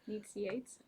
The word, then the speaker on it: Nicieza: The first one is by Fabian Nicieza. Hmm. I believe that's how you pronounce his name. Needs Yates.